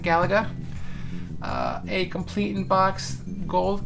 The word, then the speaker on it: Galaga: Sword, complete in box Galaga, depending on how you pronounce it. I pronounce it Galaga.